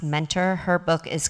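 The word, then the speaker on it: Muenter: and Olivia Mentor it's spelled mtter but it's pronounced Mentor her book is called such a bad influence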